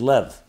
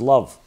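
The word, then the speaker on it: לב: 32 in Hebrew is Lev. Lev means heart. It also can be pronounced as love.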